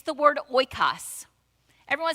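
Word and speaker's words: οἶκος: Some people, you could say oikos, but I think the pronunciation in the biblical Greek would be oikos.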